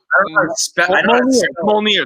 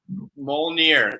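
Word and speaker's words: Mjölnir: It's Molnir. That's the pronunciation. It's Molnir. Molnir.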